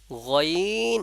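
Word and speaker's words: غين: কোথা থেকে উচ্চারণ হচ্ছে হলুকের শুরু বা গলার শুরু হইতে গাইন উচ্চারিত হয় গলার শুরু থেকে গইন আর খ এই খ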